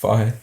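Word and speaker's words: Fage: Is that how it's pronounced? Fahe, yeah.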